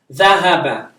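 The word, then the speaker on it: ذهب: Dhahaba. Zahaba. Yeah, this is, you remember dal, val, that is ha, the thick ha, not the ha, the ha.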